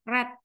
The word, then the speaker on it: read: reading Tapi waktu ya red gitu verb 2-nya read itu sama tulisannya Tapi bacanya red tulisannya sama reak Tapi bacanya beda red red red gitu nomor